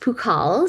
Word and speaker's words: Pukall: So, it would be my family name, which is pronounced Pukall. So P as in Peter, Ukall, and then C for Caroline at queensu.ca.